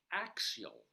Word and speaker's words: Axial: So, ladies and gentlemen, there's a town in Colorado called Axial. A-X-I-A-L. Pronounced sort of like the axle of a wheel in a car.